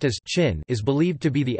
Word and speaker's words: Qin: The name Qin, pronounced as Qin, is believed to be the etymological ancestor of the modern-day European name of the country, China.